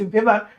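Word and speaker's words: Weber: হ্যাঁ অন্তঃকর্ণ জার্মান বিজ্ঞানী Ernest Heinrich ভেভার এর নাম অনুযায়ী এটাকে ভেরিন ওসিকাল বলা। ঠিক আছে ড এবং ভি এর মত উচ্চারণ এই সংযোগ দিয়ে বায়ুথলিতে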